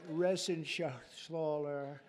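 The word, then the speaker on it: Reschenthaler: You know that Resenshathaler. That's actually the way you pronounce it, you know. Nobody else gets it right.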